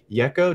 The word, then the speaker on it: Yeko: have pr manager uh sync licensing expert jennifer yecco did i pronounce that right yes you got it right